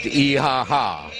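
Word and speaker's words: IHH: we came into turkey we were joined by iaha which is the human rights organization the foundation for human rights and human freedom IH goes by the initials but pronounced eaha okay it's a great organization uh they operate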